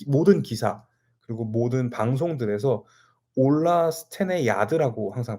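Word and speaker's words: Ola Stenegärd: g r d 있데 a 위에 점이 두 개가 있나 그래요 그렇게 했을 때 아가 아니라 야 발음이 난다 그래서 전체 스펠링을 똑바로 읽으면 올라 스텐의 기아드라서 이제 앞으로는 올라 스텐의 드라고 또 부르도록 하겠습니다 그동안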